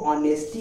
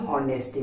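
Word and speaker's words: honesty: यहां पे एच क्या है साइलेंट है इसीलिए हम इसको ऑनेस्टी बोलेंगे ना कि होनेस्टी बोलेंगे ओके समझ में आ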